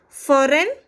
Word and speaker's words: foreign: Like silent G, I can tell foreign.